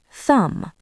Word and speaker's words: thumb: thumb doubt debt Silent W before R.